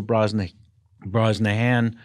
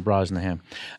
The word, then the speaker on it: Brosnahan: Comedy and also Rachel Brosnahan that's not how you say her name usually you don't swallow in the middle of the last nice name you just say it right through Rachel Brosnahan she picked up another